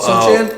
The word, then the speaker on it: Sochan: Sochan? Yeah, There you go. Sochan.